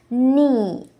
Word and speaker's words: knee: ஒரு என் லெட்டருக்கு முன்னாடி வரக்கூடிய கே எப்பவுமே silent. See the examples. Knee, knife, no, knock.